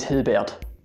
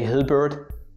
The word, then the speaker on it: Hilbert: a great mathematician and what people get wrong with his name mostly is just a hillbird in the end so people say hilbert in england or the usa but you actually should say hilbert albert einstein it's really